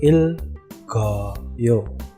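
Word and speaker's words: 읽어요: Kalau di depan itu dia akan tetap sebagai konsonan mati, sedangkan konsonan yang ada di belakangnya giok itu akan naik menggantikan kedudukan iyang ya. Jadi bacanya ya il, go, yo.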